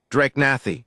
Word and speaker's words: Drakenathi: "Drakenathi," the older one said. It pronounced it with a weight on the middle syllable, Drakenath.